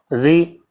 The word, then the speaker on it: ऋ: बताएंगे 10 होती है, क्योंकि जो री है ये जो है स्वर में नहीं ली, इसका जब उच्चारण करते हैं तो ये जो है व्यंजन की तरह उच्चारित होता है।